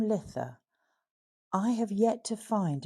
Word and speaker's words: Lithe: Tolkien's Lord of the Rings, the word does appear, as the hobbits celebrated their Midsummer's Day by the name of Lith, which is spelled Lithe.